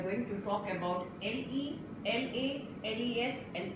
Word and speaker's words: la: Ouvrez la bouche et parlez, open your mouth and clearly pronounce the word La.